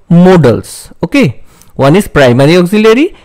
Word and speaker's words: modals: of auxiliary verb or helping verb is called modals okay remember the pronunciation is modals not models okay I have seen that many uh many